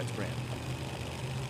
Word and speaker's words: Grand: So how do you say that? Is that Grande or Grand? Grand Point, Canada. Just Grand? Grand. It's got an E on it. Yeah, it's Grand.